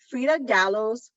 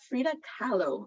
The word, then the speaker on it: Frida Kahlo: art um display of Frida Gallows sorry Frida Frida Kahlo I said her name wrong um all of her